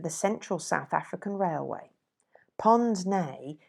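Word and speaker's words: pince-nez: central south african railway pond's nay is spelled c p-i-n-c-e n e z it is a french word for the old-fashioned wire-rimmed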